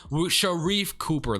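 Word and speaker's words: Sharife Cooper: So Sharif Cooper, though, that is how you say it.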